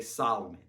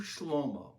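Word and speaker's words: שלמה: Many people mispronounce his name and say Solomon. In Hebrew, Shlomo, it means peace.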